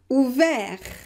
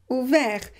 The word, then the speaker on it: ouvert: And here at the end, ouvert, ouvert. You have the consonant just after r, so you pronounce it e, ouvert.